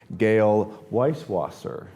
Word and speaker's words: Gayle Weiswasser: I'm Findlay-Shirras, and today we have the pleasure of sitting down with the SVP for Communications and Business Development at HomeSnap, Gayle Weiswasser. Did I pronounce that correctly?